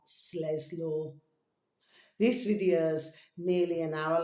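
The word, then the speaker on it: Sleslor: way not in that one called Slesaw I'll spell it for you. Capital S, L E S, L O R. Sles law.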